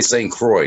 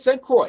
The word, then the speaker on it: St. Croix: But if you're not, like, well, it's pronounced C-R-O-Y.